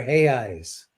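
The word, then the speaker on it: reais: What are he eyes? So that's how they pronounce re A. We would say real, which is like the the king's money. And they pronounce it he eyes because like Joseph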